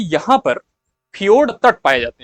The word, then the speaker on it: fjord: FJORD इसको फियोर्ड pronunciate करते हैं, और यह चिली में ही जो है इसको हम देख सकते हैं।